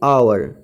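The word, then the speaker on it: hour: एन एम A English अब एन आवर यहां पर इसकी आवाज एच यहां पर साइलेंट है मगर इसकी साउंड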